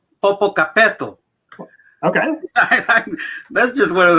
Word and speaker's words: Popocatépetl: And if I slaughter this, please forgive me, but I think it's pronounced Popocatépetl.